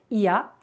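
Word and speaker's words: Oia: le village traditionnel de ia vous remarquerez que c'est écrit oh il y a mais la bonne prononciation cia alors nous allons dans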